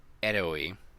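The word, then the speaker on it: Herói: A lenda do eroi. That's how I pronounce it. Eroi. Eroi. But eroi, like the O has an accent.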